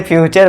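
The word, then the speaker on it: future: इसे पढ़ते हैं हम फ्यूचर। इसमें भी च का साउंड होगा और इसे अब आप फटोरे बटोरे मत पढ़ना। इसे फ्यूचर पढ़ेंगे।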